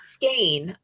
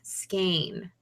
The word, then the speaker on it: skein: I can't pronounce anything skåne long a sound skein yes I went okay